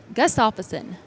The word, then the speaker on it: Gustafson: Gustafson.